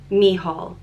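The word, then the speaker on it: Mícheál: this name Michael but the way it's pronounced in Irish when it has a foto of va it's me Hall mihal and I was researching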